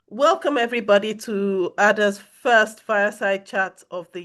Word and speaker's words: AADA: So if you're looking for how to pronounce us, it's AADA.